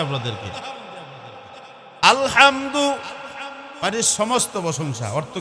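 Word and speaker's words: الحمد: আলহামদু মানে সমস্ত প্রশংসা অর্থ কি জোরে বলেন না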